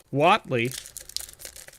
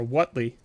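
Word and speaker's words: Huatli: box we got a Watley or what Lee or wherever you want to pronounce their name I think it's wat wat Lee I believe that's what everyone corrected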